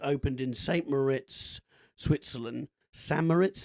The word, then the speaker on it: St. Moritz: San Moritz, is that how you say it? Yeah. Okay, San Moritz.